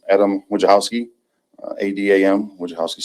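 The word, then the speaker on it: Wojciechowski: State and spell your name yep it's Adam Wachowski Ada which house is spelled w-o-j-c-i-e-c-h-o-w-s-k-i exactly like it sounds just like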